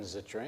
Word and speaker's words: Zittrain: were at just a little earlier uh Jonathan zitrin am I saying it right yep he is